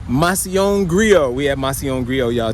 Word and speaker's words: Macillon Grio: How you pronounce it, Deja? Macillon Grio. Macillon Grio.